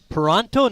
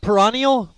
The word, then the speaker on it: Paronto: you too much but i believe that name is how we pronouncing uh the pitcher's name bill paronto not peranio okay we'll go with